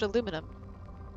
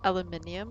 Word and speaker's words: aluminium: I pronounce it aluminum. Probe launched. Don't British people pronounce it aluminium or something?